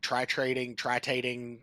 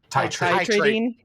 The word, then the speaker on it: titrating: not, what is it, tritating, whatever the hell it's called. Titrating. Titrating. I was putting the R in the wrong spot. Emphasis was on the wrong syllable.